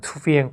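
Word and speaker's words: thư viện: 저 굉장히 인상적이었고, 요 건물은 투비엔 꾸옥자라고 되어 있는데, 꾸옥자가 국가의 그 베트남식 발음이고요. 투비엔은 서점이에요. 서점이 중국어로 슈디엔이 되고 남쪽으로 가서 투비엔으로 발음이 바뀌는데, 국가 서점이고 우리식으로 하면 국립도서관이죠.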